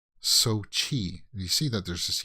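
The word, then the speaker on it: Xochitl: then chi chi like sochi you see that there's a ch there it looks like it would be so chill so chill gomez but it's not uh let me see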